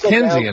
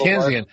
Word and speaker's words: Keynesian: Now, is that part of the, what's the guy, K-E-Y-N-E-S, how do you pronounce that? That's the theorist. Keynes. Keynesian, something like that. It's Keynesian, right? Yeah, it's Keynesian.